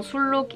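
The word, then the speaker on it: 순록: peu quand même l'apprentissage, mais à cause du L qui suit juste après cette syllabe, le N ne se prononce pas N mais se prononce L.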